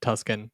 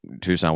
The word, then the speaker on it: Tucson: Lots of people just call me Tuscan and I'm like that's fine, whatever. Yeah. I think the first time I ever said to you in person, Tucson, whatever, you're like, "Oh, you pronounce it correctly." I was like, "People don't pronounce it correctly." No, no one does.